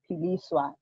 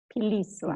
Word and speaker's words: Philiswa: Philiswa, actually that's how it should be pronounced. Philiswa. Philiswa. Philiswa. Philiswa. Yes, almost like you're pulling it.